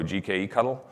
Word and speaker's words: gkectl: gcloud swaps out for GKE CTL, so GKE Cuttle, which allows you to spin up a new cluster, and that's how you deploy user clusters inside the environment.